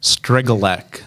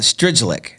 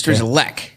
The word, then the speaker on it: Strygulec: I would call it Strygulec, but it's Strygulec.